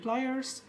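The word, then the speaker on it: pliers: এটাকে আপনি বলবেন খিচুড়ি, প্লাস নেই হবে প্লায়ার্স, মামলেট হবে না হবে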